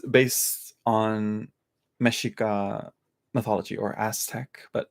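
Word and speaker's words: Mexica: mythology yet uh and that's the I probably butchered that uh hello Natalia yeah and yeah it's it's it's based on meshika mythology or Aztec but it's like ashika because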